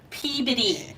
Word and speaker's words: Peabody: And for the locals, we got our Peabody. That's Yeah. how we pronounce it.